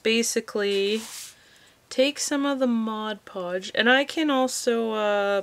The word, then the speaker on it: Mod Podge: going to use some mod podge i said it right that time i didn't see modge podge which i always say i said mod podge and all i'm gonna